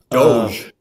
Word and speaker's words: DOGE: pronounced a certain way doge is Doge well I've never heard